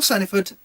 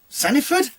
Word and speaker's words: Saniford: of yellow belly by phil sanford saniford get it right phil yes i said